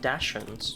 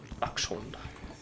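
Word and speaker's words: dachshund: love the taste of Dashins." You know, like it's not dashed, it's dun. Dund.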